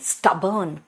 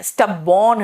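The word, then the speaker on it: stubborn: स्टबर्न है, स्टबबॉर्न नहीं है, स्टबर्न है।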